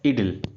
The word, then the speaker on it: idyll: इडिल। क्या वर्ड है? इडिल।